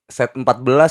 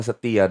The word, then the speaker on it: Set14: Guys, Aldo set 14 ya? Iya. Gitu gak sih? Iya, tapi setia sebenarnya bacanya. Setia sebenarnya Iya, ya. tulisannya aja set 14.